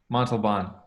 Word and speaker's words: Montalban: have a guest by the name of mark maltobon did i pronounce that right mark pretty good pretty good okay you say it montalban okay the mark is the founder and ceo